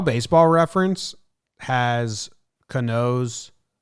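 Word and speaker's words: Canó: They have it as K-A-H, Ka, and then N-O-H, no. I get that part. But why do you need the H at the end? Why can't you just say N-O?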